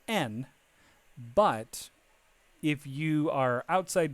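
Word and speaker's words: 円: So we're going to work on N here, which is this. So just remember when you're using Japanese using the Japanese language to talk about money, you say N.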